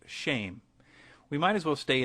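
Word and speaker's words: שם: Hebrew word for name which is Shem pronounced shame we might as well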